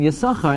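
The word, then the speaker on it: יששכר: absolutely impossible to say alpi diktok that it's pronounced anything other than yasucha and that's because there's no schwa under the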